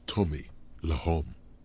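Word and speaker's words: Le Homme: The correct grammar is Tommy Lehom. So why Tommy Lehom? Yeah, I get it. Usually you would, you know, contract Lehom to Lom because the H is silent and then the E just vanishes.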